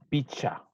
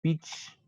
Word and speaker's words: pichka: notado que para algunos, les cuesta el pichka. Y la recomendación que les había dado, simplemente eso lo pongo picha, ¿sí? Se puede decir, se puede pronunciar directamente como picha, que también se lo dice acá en Imbabura picha, ¿sí? Entonces, es correcto decir justamente eso y no como en este momento también es pitch.